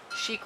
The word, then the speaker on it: chic: It's just, I don't know, sleek might be the wrong word, but chic rhymes with sleek, right?